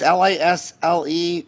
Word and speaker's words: Lisle: I mean, I can go on and on about their where to get this headquarters is how do you pronounce it? Isle, Illinois. It's Lisle, Illinois. Lisle, Illinois.